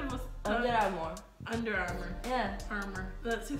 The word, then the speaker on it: Under Armour: Under Armour. Agora é você. Under Armour.